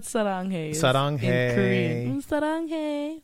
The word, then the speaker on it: saranghae: Saranghae.